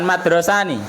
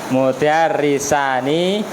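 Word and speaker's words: مدرسان: hador madrosani atau pripun bukan madrasahani hador mudarisani Kila Huma Jangan madrasahani nanti dua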